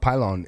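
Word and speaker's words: Pilon: uh the reason why I know it's it's pronounced pylon is uh uh Steinbach wrote a book called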